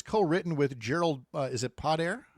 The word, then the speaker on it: Podair: The book is co-written with Gerald, is it Podair? How do you say it? Podair.